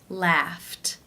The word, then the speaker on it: laughed: you pronounce this sound the final sound of the infinitive is the unvoiced F sound since it's unvoiced it is case 1 where the II D is pronounced as that T sound laughed laughed how do you